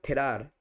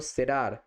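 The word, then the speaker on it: cerrar: তখন সেখানে বলা হতো থেরার। থেরার। তো সেটা অধিকাংশ স্প্যানিশ জগতে বলা হয় না। খুবই কম জায়গায় বলা হয়। কিন্তু যেটা সবচেয়ে বেশি এক্সেপ্টেড সেটা সিইটাকে হচ্ছে সেস উচ্চারণ করা তো সেরার সেরার রড ডবলটাকে এরকম একদম ভালোভাবে জোর দিয়ে বলতে হবে সেরার রাইট তার কমপ্রার কমপ্রার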